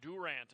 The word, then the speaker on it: Durant: This is kind of like my answer to Durant, or Durant, as some people in Durant pronounce it.